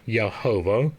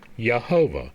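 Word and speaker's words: Jehovah: so when we see yahovah it is yahovah when we see yosua it is yosua so all of the J's are pronounced with a Y now the I and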